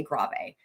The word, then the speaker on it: Grave: that's really slow the the tempo marking was actually grav like grave spelled it's spelled like grave but you say grave so it's not just